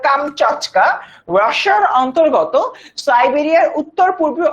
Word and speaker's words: কামচাটকা: কামস্কাটকা হচ্ছে প্রকৃত উচ্চারণ হলো কামচাটকা, রাশিয়ার অন্তর্গত সাইবেরিয়ার উত্তর পূর্বে অবস্থিত একটা উপদ্বীপ।